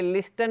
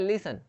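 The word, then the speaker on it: listen: वैसे लिसन, यहाँ पे लिस्टन नहीं बोलते इसको, क्या बोलते हैं, लिसन, सुनो, लिसन, या सुनना या सुनो।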